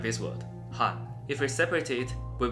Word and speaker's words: 한: block like this word Han. If we separate it, we will get three different parts. Each letters we can think they are H A N. And we put them together, we will get Han.